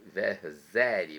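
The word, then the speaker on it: Verzeri: Escreve-se com Z, né, esse Verseri, mas a pronúncia é Verseri.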